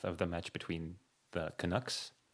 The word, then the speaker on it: Canucks: the match between the Canucks. Oh, I'm not pronouncing this right. Canucks. yeah, you got it.